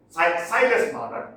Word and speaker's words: Silas Marner: Silas Marner is the correct pronunciation.